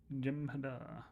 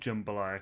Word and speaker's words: jambalaya: I pronounce it Jemhada. Oh, okay, so it is said Jambalaya.